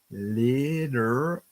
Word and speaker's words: literally: So when we say a word like literally, okay, I'm going to say that again. Liter, so our tongue covers back with the T and the R. Liter, and then it pushes forward again. Literally. Okay. Literally.